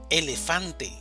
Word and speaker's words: elefante: Elefante, elefante. La mayor fuerza de voz está en fan, elefante.